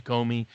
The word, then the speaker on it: Comey: If he indicted James Comey, indicted Andrew McCabe, indicted John Brennan, indicted Clapper, or even Lisa Page or Peter Strzok, or I guess it's pronounced Stroke.